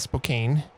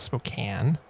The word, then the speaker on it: Spokane: were they were interesting we had a lot of Spokane instead of Spokane right as an example